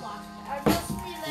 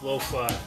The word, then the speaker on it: lo-fi: I really like lofty. Lo-fi. It's lo-fi. I call it lofty. Okay, whatever. Because I forget that it's pronounced lo-fi.